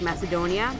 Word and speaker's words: Macedon: have ma Don like Macedonia but it's called Macedon I think some red shirt I've